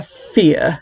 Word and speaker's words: Fier: He's online talking to this like Queen of Air and Darkness lady about Sarah Fier, whose last name is spelled F-I-E-R, so it's kind of like fire, about how she is this witch known to the town.